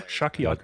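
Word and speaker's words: Shakuyaku: And Scratch Manu is going to remove the uh the Shaku Yaku if I'm not mistaken. I always feel like I'm mispronouncing her name. Yeah, Shakiyaku is correct.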